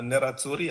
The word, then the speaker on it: Nerazzurri: First of all, congratulations to the fans of the Nerazzurri.